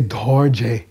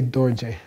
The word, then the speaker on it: Dorje: So you don't say dorje, you say dorje.